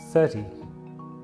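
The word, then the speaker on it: thirty: In the word 13, the stress is on the second syllable, 13, while in 30, the stress is on the first, 30.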